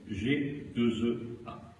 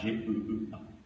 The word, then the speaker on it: G2EA: Petit clin d'œil à contribuables associés, et ça se prononce G2EA. Pas G-E-E-A, G2EA.